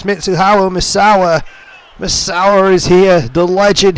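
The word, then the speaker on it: Mitsuharu Misawa: god ladies and gentlemen mitsuha misawa clearly the announcer did not know his name or could not pronounce it but it's mitsuhao misawa misawa is here the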